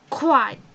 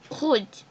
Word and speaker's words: rouge: Quad. It's not quad actually, sorry. It's kuj.